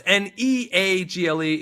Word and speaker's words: Neagle: Justin Neagle, that's Neagle. It's spelled like beagle, but pronounced like bagel.